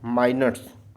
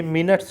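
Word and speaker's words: minutes: Important है आगे वाला माइनट्स माइनोट्स ठीक है ये बहुत इंपॉर्टेंट है ठीक है ये मिनट्स मत पढ़िएगा माइनोट्स बोलते हैं इसको को ठीक है।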